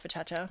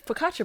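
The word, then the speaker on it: focaccia: bread existed yeah you can just call it pachacha pachacha bread so I've been calling it that because that's how I pronounce it I know I'm an adult and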